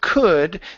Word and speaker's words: could: Now, the word could, this L is silent. We don't pronounce it. So instead of saying could, okay, it's could. No L.